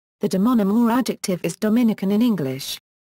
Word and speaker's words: Dominican: The demonym or adjective is Dominican in English. It is pronounced with the syllable stress being on the second I, serving to distinguish it